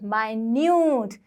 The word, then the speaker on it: minute: Listen to the pronunciation, minute.